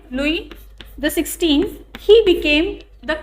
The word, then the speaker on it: Louis: in 1774 in 1774 louis xvi here s is silent louis the 16th he became